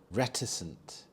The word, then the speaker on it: reticent: floors and expensive chandeliers reticent reticent the stress is on the first syllable re reticent this is when someone